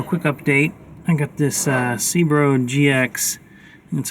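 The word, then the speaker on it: Cerbo GX: I got this Cbro GX, that's how you say it, from Victron Energy to control this thing and future devices.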